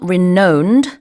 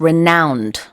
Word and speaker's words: renowned: is basically others metropolitanum renowned mums 그래요 발음이 좀 특이하죠 it's not renowned it's renouned yes 유명한 famous 자 다시 읽어보겠습니다.